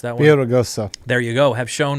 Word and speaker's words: Villaraigosa: While San Jose Mayor Matt Mahan and ex-Los Angeles Mayor Antonio Villa, how do you pronounce that one? Villaraigosa.